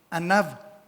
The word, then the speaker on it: Anav: El hebreo de esta palabra abatidos es el hebreo Anav. A N A V con acento en la segunda A.